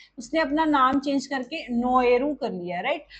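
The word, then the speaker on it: Naoero: सो इट is basically उन्होंने अपनी language के अकॉर्डिंग, प्रोनाउंसिएशन के अकॉर्डिंग इसको चेंज कर लिया एंड द न्यू नेम इज now spoken as नोएरू, नोएरू। So Nauru से नोएरू हो गया।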